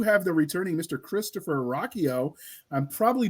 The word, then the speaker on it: Ruocchio: Christopher Ruocchio. I'm probably butchered your last name, so no, you got it.